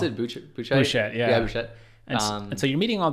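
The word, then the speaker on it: Buchheit: How do you pronounce it? Bouchet.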